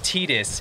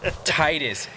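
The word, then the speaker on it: Tidus: I don't care what Square Enix says, it's not Titus, it's Titus.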